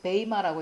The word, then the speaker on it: bema: 심판대에서 그리스도의 심판대에서 이 그리스도의 심판대는 제가 베마 BEMA라고 적고 베이마라고 읽는다고 말씀을 드렸는데요.